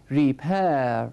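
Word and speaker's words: repair: ریپر ریپر ریپر ریپر استرس اسش تأکید کلام من روی سیلاب دوم هست ریپر من نمیگم ریپر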